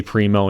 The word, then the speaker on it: Primo: So I guess you could argue that the announcer pronounced his name wrong, but I don't think so. It is a Primo and is named after a guy named Primo.